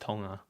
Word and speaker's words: Tonga: yeah it's actually pronounced tonga do you know that it's not it's not you don't say the g okay but anyway helping